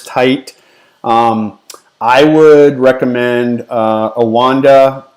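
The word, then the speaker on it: Oanda: i would recommend uh awanda that's how i pronounce it i think some people might call it ananda or whatever but uh awanda o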